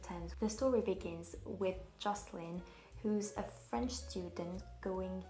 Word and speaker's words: Jocelyn: The only thing is that Jocelyn in French is pronounced Jocelyn, but in English it's Jocelyn, which is a girl's name, and that the owner